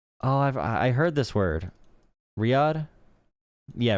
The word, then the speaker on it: Riyadh: Riyadh? Yeah, Riyadh.